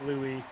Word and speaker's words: Louis: nine times out of 10 they're the French pronunciation so like Lewis is always Lou you know uh Roy is another one like